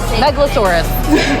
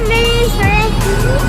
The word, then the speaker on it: Megalosaurus: it out there you remember metaurus Megalodon right Megalosaurus Megalosaurus you were right I'm sorry you were right I'm wrong Megalosaurus Megalosaurus that megasaurus is that a Megalosaurus too no afro caurus